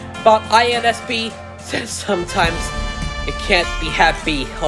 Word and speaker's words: INSP: It's not pronounced INSP. I told you, it's not INSP. It's INSP, with each letter spelled out, with the name spelled out letter by letter.